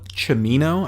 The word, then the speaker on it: Cimino: movie made 1978 directed by erected by Michael Cimino I believe is how it's pronounced yes see I am Ino Stars De